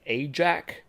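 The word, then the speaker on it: Ajack: of Americans would say Ajac. Uh I pronounce it Ayak because it's it's German pronunciation.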